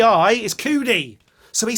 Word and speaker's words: Cudi: be writing uh can't believe he said kid cootie well c-u-d-i and is is pronounced coodie it is coodie and like like and like